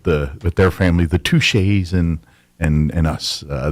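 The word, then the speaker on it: Tixier: up a lot touche well it's spelled t-i-x-i-e-r so most people don't pronounce it right and they just call it that's tixer yeah her name is tixer your name is not touched in this picture it's pronounced well no in your mind it's pronounced touche I'm guessing it's French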